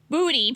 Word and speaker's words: Budi: Budi, pronounced budi, doesn't know what to do.